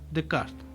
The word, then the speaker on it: Descartes: ¿Cómo se pronuncia, señor productor? Descartes.